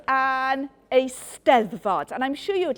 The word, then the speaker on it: Eisteddfod: It's called an Eisteddfod, and I'm sure you would like to practice saying the word. Yeah, so Eisteddfod. The emphasis in Welsh mainly falls on the last but one syllable.